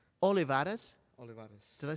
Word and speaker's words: Olivares: I am Olivares. Olivares? Olivares. Did I say that right? Yes. How do you spell that? Olivares. So the R sounds like a D, kind of.